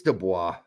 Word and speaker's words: Du Bois: divorced no boys it's Dubois that's the way it's really pronounced it's a French name it's the block I've